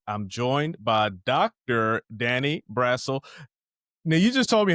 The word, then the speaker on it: Brassel: It's Brell, but it's fine. It doesn't matter. It's got it's s e l too. And I still said brassle. I think it's because I